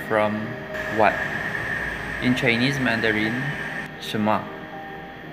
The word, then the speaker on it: 什么: In Chinese Mandarin, 什么? Bigkasin mo lang siya ng mabilis, 什么? Pero pwede rin siyang i-pronounce as 什么? Yun yung usually ginagamit na pronunciation nila dito, even the Taiwanese.